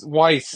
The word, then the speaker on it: Weiss: What why is Weiss is how it's said, Weiss grocery stores in the Midwest.